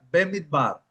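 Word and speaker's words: במדבר: ¿Alguno de ustedes de los eh de los demás estudiantes quieren ah leer la palabra hebrea bemit bar o pronunciarla?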